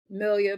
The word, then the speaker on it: Melia: hold up say it for one more time millia but y'all call me okay yeah